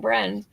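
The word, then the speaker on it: Briend: um Sam Bren um spelled like friend so I'm saying Bren um that his ceiling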